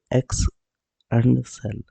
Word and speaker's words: Excel: Excel is pronounced X and cell.